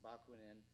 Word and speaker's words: Bakunin: I believe his name is pronounced Bakunin.